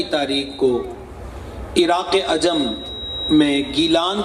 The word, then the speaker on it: گیلان: 470 ہجری میں رمضان شریف کی پہلی تاریخ کو عراق عجم میں گیلان کے اندر پیدا ہوئے جسے عربی لہجے میں جیلان کہتے ہیں.